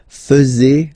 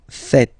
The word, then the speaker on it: faites: And it's quite funny because many French people tend to make the mistake and tend to say vous faisiez, okay? But then no. It's vous faites. Vous faites. Okay, so remember, final S here is not pronounced, and then this is not pronounced either.